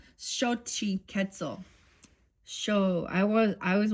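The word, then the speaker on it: Xochiquetzal: It is pronounced shi ketzel shi ketzel sh I want I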